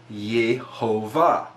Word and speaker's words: Yehovah: However, you will see the dots around the letter, and you get the pronunciation of Yehovah as it appears here.